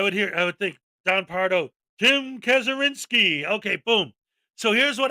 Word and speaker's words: Kazurinsky: And I go, you're Tim Kazurinsky.